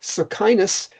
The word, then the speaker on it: Socinus: Socinus, if that is how it's pronounced, Socinus was a Polish theologian of the